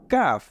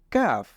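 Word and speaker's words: كاف: কাফ এরপরেরটা হলো লাম কাফ এবং কফ এই দুইটার মধ্যে আমরা সবসময় পার্থক্য নির্ণয় করব যে কফ সেটা মোটা হবে আর কাফ সেটা হবে চিকন তাহলে এটা হলো কাফ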